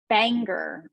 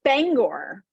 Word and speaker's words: Bangor: People that say Bangor or something instead of that drives Bangor. me crazy. And what is it? It's Bangor.